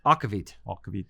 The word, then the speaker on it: aquavit: come collect your aquavit is it aquavit or aquavit aquavit akovit okay so I said it wrong for the intro part